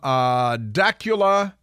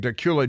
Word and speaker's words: Dacula: From Dacula, Georgia, and it's an amazing gift, and I want to share it with you because Chelsea and Dacula, Georgia, sent me the thing. Dacula, Georgia is a portmanteau, a combination of Decatur